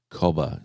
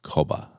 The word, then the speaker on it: cobber: Um, so if two guys sort of talk to each other, it's usually cobba. C O B E R as in co, but it's pronounced like coba. Good cobber.